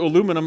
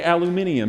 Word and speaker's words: aluminium: been a pop question stop adding syllables to aluminum like the english well i like it that way okay fine say aluminium so you say aluminium